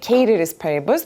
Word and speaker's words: ceteris paribus: Of course, we said something like the correct way of pronouncing it is actually ceteris paribus, but do you remember something called ceteris paribus?